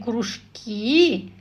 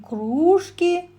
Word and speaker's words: кружки: из этого упражнения Да от ударения в слове зависит его значение если мы говорим кружки это то что проводится в школе хобби занимательный интересные занятия да А если мы говорим кружки это посуда кружка а теперь выполним эти задания